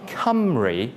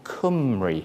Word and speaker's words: Cymru: So it should be Cymru, not as a lot of people think Cymru. You need a W, which is another Welsh vowel, to get that sound.